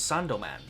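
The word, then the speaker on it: サンドマン: Sandman in Japanese is Sandoman.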